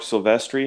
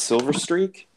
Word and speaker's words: Silvestri: Or Mark Silvestri. It's not Silver Streak.